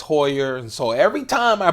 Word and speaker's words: Heuer: I'm slack on replying someone told me that it's not humor it's Hoyer and so every time